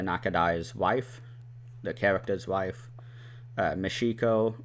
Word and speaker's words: Michiko: wife, the character's wife, Michiko, or Mishiko, I believe is how you say it, Cal, who is the Chinese laborer who butts heads with authority a lot.